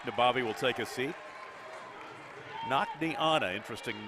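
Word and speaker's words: Naknianna: Nakneana, interesting name. N-A-K-N-I, Nakni. Anna, A-N-N-A. Only a freshman.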